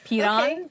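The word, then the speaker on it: Piran: Piron. Okay. Pyron, you know. All right. Well, thank you, unpronouncable cat name.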